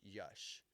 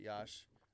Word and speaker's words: Yash: It wasn't until two years ago he made like a public announcement that, hey, my name is Yash. And there's still some people that pronounce it Yash um from our like our past, but like